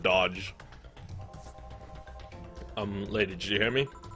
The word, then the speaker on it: doge: Or a doge, depending on how you want to say it. I pronounce it dodge.